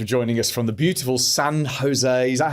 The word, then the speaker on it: San Jose: so much for joining us from the beautiful San Jose is that how you pronounce it San Jose it is yeah in in California where for